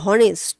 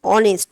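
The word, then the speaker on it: honest: সো অনেস্ট, দেখো এইচ কি consonant, but অনেস্ট আমি তো উচ্চারণ করছি না যে হনেস্ট, হনেস্ট উচ্চারণ করছি কি? করছি না। আমি কি উচ্চারণ করছি? অনেস্ট।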